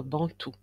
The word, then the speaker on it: Bantu: mot bantou désigne officiellement les peuples qui parlent des langues bantoues et qui vivent globalement en Afrique subsaharienne. Il se prononce bantou.